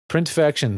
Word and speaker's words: Printfection: Printfection spelled like infection with the print on the front.